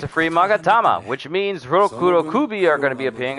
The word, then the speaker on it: rokurokubi: magatama i'd say magatama or i don't say roku rokubi i just say rokurokubi i tend to roll